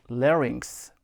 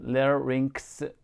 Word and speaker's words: larynx: 단어는 larynx. 유의해 주시고요. 특별히 발음 이 부분 larynx 발음 반복해서 연습하시면 좋겠습니다.